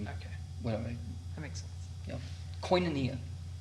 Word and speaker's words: Koinonia: Koinonia. Sounds like I feel like I want to spell it like quinoa. QUINEA or wait, EA, yeah. No. QUIN. Can you say the word again? Koinonia.